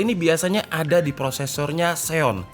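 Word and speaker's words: Xeon: nah Intel DL ini biasanya ada di prosesornya Seon Zion bacanya Ya dan menarik menarik banget karena di seri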